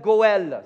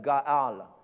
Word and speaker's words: Goël: Il s'appelle Goël, c'est le mot en hébreu, Goël ou Gaal. Mais Goël, c'est un petit peu plus facile à prononcer pour moi, donc on va dire Goël. OK, tout le monde dit Goël.